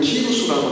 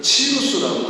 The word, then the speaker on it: 키루스: 지금 우리 성경에는 키루스라고 나오는데 예전에는 이거를 치루스라고 읽었었는데 같은 이름입니다.